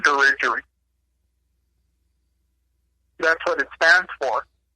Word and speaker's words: Dirigiri: That's what Dirigiri means? Right. It's Latin. The way you say the way everyone says it, the way we tell them, is Dirigiri. But really, it's pronounced Dirigiri.